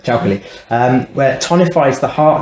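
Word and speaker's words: 巧克力: And then traditional Chinese medicine, chocolate, which they call chakali, which is just like Chinese pronunciation chocolate, chakali, where it tonifies the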